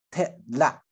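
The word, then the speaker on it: 特烈: 好，特拉好，这两个字都是入声字，要注意发音。特拉好，那个南四县腔会发成特拉特啊，它有加一个 i 的音哈，是可以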